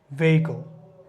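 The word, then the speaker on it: vehicle: Next হচ্ছে কি rhyme, জানি আমরা, রিদম, ভেহিকল, ভেহিকল, আমরা অনেক সময় বলি যে ভেহিকল, ভেহিকল বা ভেহিকেল, এখানে এইচের উচ্চারণটা কিন্তু সাইলেন্ট থাকবে, ভেহিকল, ভেহিকল, ভেহিকল।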